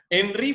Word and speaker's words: Henri: Henri Fayol, no es Henry, porque algunos dicen Henry, mi amigo Henry, no. Henri Fayol, era francés, entonces se pronunciaba así. Fíjense que es con I común, no o sea, es Henri, ¿sí?